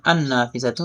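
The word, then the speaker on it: النافذة: নাফিজাতুন একটি জানালা, এখানে আন নাফিজাতু নুন কিন্তু পরের 13টি হরফ থেকে একটি, তো এখানে নুনটা তাসদিদ যুক্ত রূপে উচ্চারিত হবে আর লামটা উচ্চারণ হবে না।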